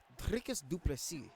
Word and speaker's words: Dricus du Plessis: Dricus du Plessis, that's how you say it. According to my South African buddy, not Dino Gamer, who's #1 on the leaderboards.